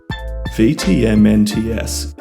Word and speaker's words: VTMNTS: Supposedly pronounced V-T-M-N-T-S but I doubt that will translate in the long term and will read instead as Vetements by Vetements.